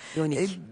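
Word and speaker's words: Jonigk: Okunuyor? Yonik.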